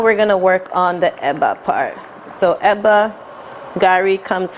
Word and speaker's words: eba: In West Africa, we use it as a swallow, which is called eba or teba. Depending on which tribal person that you find, they have their own pronunciation.